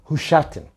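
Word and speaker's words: Husiatyn: because i have a biography of the famous husseyat narabi i think it's actually pronounced hushatin even though it's written husseat and it's kind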